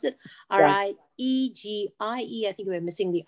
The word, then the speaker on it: Riegie: and then Riegie is how you pronounce it.